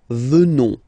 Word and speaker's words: venons: Final S not pronounced. So you will get the sound venons.